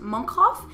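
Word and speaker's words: Mönchhof: i mentioned it's pronounced monkhoff and it's because it was founded in 1177 by monks there you go monk house it's the monk house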